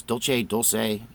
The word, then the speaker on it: Dulce: edition of coffee talk a specific time and today we're talking about the dulce wars the dulce Wars and I pronounce Dolce Dolce so this is an